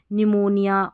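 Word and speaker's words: pneumonia: देखिए [अचानक ज़ोर से सांस लेने की आवाज़] पी एस और पी एन से शुरू होने वाले कई शब्दों में पी साइलेंट होता है।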